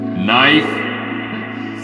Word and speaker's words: knife: silent K, silent P, knife, silent K for that one, knit, silent K for